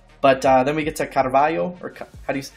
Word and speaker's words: Carvalho: Yeah, look, I am not the best at Portuguese from Portugal, but I think it would be something like Carvalho. Okay. Yeah, you kind of like eat the vowels a little bit, and sorry if I mispronunciated.